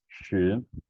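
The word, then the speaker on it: 十: character is ten, and ten is pronounced as shi, shi, and shi is drawn in this way.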